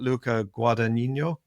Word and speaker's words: Luca Guadagnino: And it's Luca, I'm going to murder his name, but Luca Guadagnino, I think. Very good. That's how I pronounce it too.